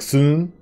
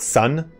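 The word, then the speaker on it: 孫: Just like soon, it's not sun. It's Sun, Sun Tzu, Sun Tzu.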